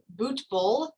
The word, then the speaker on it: Butbul: And we have Butbul. Am I pronouncing that right?